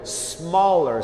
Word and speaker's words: smaller: É smaller, som de S e não Z.